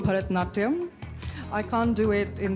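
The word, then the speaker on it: Bharatanatyam: dance you know this was coming help me pronounce it and show us a few steps uh well it's called bharatnatyam i can't do it in this gown because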